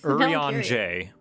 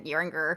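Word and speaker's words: Urianger: Yeringer, how do you say his name? Urian J. Urian J? Mm-hmm. It's French. Okay. Oh, yeah, that sounds way nicer than Yeringer.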